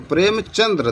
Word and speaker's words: प्रेमचंद: तो प्रेमचंद्र, दा में रा नहीं है, चंद होता, प्रेमचंद।